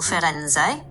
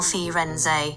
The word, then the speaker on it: Firenze: Oh no, I asked Google how to say it and she told me the first one is Carnival Fenz pronounced Carnival Fenz.